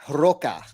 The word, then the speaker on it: Roca: So George says the right way to pronounce his name is Roca, like rock.